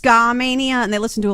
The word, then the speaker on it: Skamania: her Skamania County Stevenson uh Washington okay actually pronounced Skamania and they listen to a lot of less